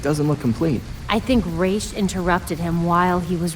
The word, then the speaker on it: Ra's al Ghul: least they pronounce Raish correctly.